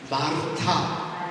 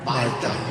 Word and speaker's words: 마르타: 마르타. 이게 여러분들 여자 양말이요. 알 발음이 하나 들어가서 마르타 이렇게 내가 한번 굴려줘야 돼요. 이게 쉽지 않잖아요. 그래서 뭐라 그러죠? 말다.